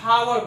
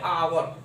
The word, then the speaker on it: hour: कि देखते हैं HOUR, तो अगर हम इसको डायरेक्ट अगर प्रोनाउंसिएशन करें तो क्या हावर बोलेंगे, लेकिन ये हावर बोला नहीं जाता है, इसको बोलते हैं आवर। क्या बोलते हैं? आवर बोलते हैं, यानी कि आ।